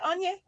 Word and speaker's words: Onyi: Did I say it right? Yeah. I'm not going to say it right. Yeah. Is it Onye? Yeah.